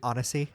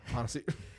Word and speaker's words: Annecy: It was released on, how did you say it was pronounced? Annecy? Annecy. Annecy. Annecy. We're talking about Annecy Film Festival. We've been saying it wrong this whole time.